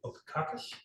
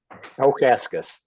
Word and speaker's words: Okaskis: Okakis? Okaskis. It's always mispronounced.